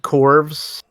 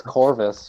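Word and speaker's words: Chorvus: so then they showed corbs which is like starfox meet core the corpse means core no it's almost Orvis it's spelled C hor vs oh yeah it gets Corvis Corvis like Corvus glaive type thing yeah it's literally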